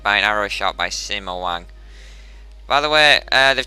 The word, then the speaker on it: Sima: an arrow shot by Sima Wang. By the way, they've changed the pronunciation in this game as well a lot, so Sima is not Sima, it's Suma, but I'm still going